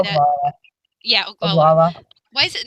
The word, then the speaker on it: Oglala: Yeah, Oglala.